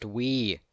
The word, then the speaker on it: Wii: It's pronounced Wii, dumbass.